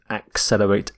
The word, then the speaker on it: accelerate: word is accelerate accelerate notice the pronunciation of accelerate axe accelerate accelerate if something accelerates it